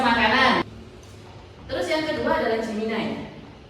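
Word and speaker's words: Gemini: Terus yang kedua adalah Jiminai. Tulisannya diini tapi bacanya Jiminai.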